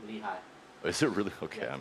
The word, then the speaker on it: Lehi: In I don't know how do you say Lel? Lehigh.